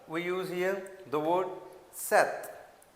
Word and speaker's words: sept: six For seven we use here the word sept. As in Punjabi we use the word we pronounce the seven as a sat. So in the French we call it sept.